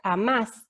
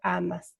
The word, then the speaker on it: amás: Entonces yo tengo que colocarle tilde a la última sílaba, porque si yo no coloco la tilde, está allí. ¿Cómo se va a pronunciar? Se va a pronunciar como amas, como el tú.